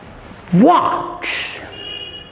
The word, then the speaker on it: what: be pronounced as one what please note my pronunciation variable whenever you find the alphabet w you must keep your lips rounded round the lips watch not what do